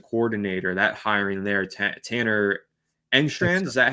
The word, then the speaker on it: Engstrand: I really like your offensive coordinator, that hiring there, Tanner Engstrand.